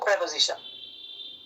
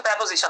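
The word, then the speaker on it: preposition: পাচ্ছি ফর একটা প্রেপজিশন উচ্চারণ হচ্ছে প্রেপজিশন আমরা প্রিপজিশন বলি আর কি একটা ডিটারমিনার সো ইট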